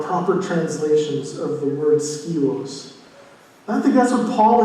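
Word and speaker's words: σκεῦος: Well, the vessel is a Greek word that's pronounced skios, and it can be translated as a vessel, but I think it's too small.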